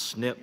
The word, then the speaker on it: SNP: longest reauthorization of the Medicare SNP pronounced snip program since its creation